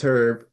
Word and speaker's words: Herb: You can pronounce Yeah, you can pronounce the H. It's Herb. Okay. Herb.